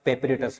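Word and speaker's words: paparazzi: याद करने के लिए आप पापाराजी, समझ रहे हो? याद करने के लिए आप इसे पापाराजी बोल सकते हो, ठीक है। बाकी इसका सही जो होता है प्रोनाउंसिएशन वो होता है सर पेपरेटस।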